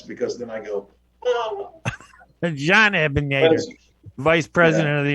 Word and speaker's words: Jean: And while we're at it, Ray, you can call me Jean because that's really how my name is pronounced.